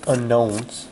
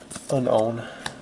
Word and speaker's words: Unown: up another one of those unknowns or as my wife would say Unown she is right there's no silent k in there but then again is